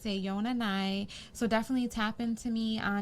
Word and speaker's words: AONA_NI: It's pronounced Ayona Nai. Say it one more time, please. How it's pronounced, yes. Ayona Nai. Because I'm sick of this shit. I know. We'll be on chats and people are like, how do you pronounce your name? It's Ayona Nai.